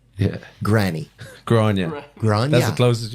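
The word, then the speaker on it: Gráinne: gr r a i n n e yeah granny gr gr that's the closest you've been oh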